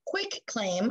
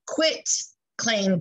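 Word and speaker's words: quitclaim: a quick clean deed not quick claim i know a lot of us mispronounce it and sometimes it falls out of my mouth incorrectly as well but it is a quit claim deed i want you to think i quit you divorce me and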